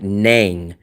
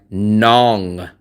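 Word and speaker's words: Nẵng: I know it's spelled N A N G, but when you hear it, it doesn't sound like nang. It sounds like nong.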